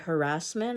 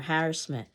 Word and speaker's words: harassment: stress the syllable so is it harassment or a harassment is it Caribbean or Caribbean